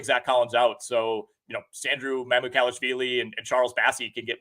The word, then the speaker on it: Mamukelashvili: So Sandro Mamukelashvili and Charles Bassey can get more tick. That was a phenomenal pronunciation on your part, by the way.